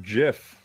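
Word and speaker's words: GIF: made it to dumb them okay well I pronounce it jiff also Oh which side of the toilet paper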